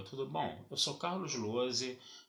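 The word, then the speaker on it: Lohse: Lembrando sempre que o meu canal no YouTube é o Carlos Lose, tá? Lose se escreve L-O-H-S-E, se escreve com Z.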